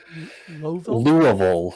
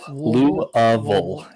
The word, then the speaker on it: Louisville: How do you say it? Louisville. Louisville. Yeah, exactly. It's all the way in the back. Lovable We can Kentucky. tell out of towners by how they pronounce it.